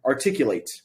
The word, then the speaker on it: articulate: the speaking course but there are two types of pronunciation there's like verb pronunciation and noun pronunciation also adjective pronunciation in this case we have the word articulate articulate late is the um the stressed syllable it is the most